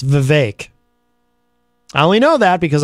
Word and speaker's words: Vivek: and by the way that is how you pronounce his name it's Vivek I only know that because I saw him